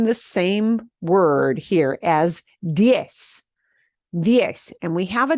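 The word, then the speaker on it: diez: a diphthong again yes in Spain that is pronounced death with the th at the end the Z at the end sounds like a t h diff okay but Latin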